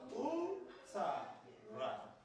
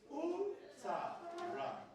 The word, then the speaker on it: utara: Take it by syllable. Number 2 syllable. Beautiful. So let's pronounce how many syllables do we have here? 1, 2, 3. Let's pronounce it together. U-ta-ra. Again. U-ta-ra.